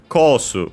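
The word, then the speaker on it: コース: Then we have kosu kara deru. Kosu, again, course from English. Kara, from. By the way, course, accent on the first syllable. Of course, just like in English, kara, from.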